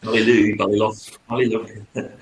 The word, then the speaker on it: Ballylough: pronounce mine. Perfect. Ballylough.